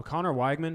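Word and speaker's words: Conner Weigman: feel about this football game I don't know Connor weigman is how you pronounce it Conor Wegman he was impressive in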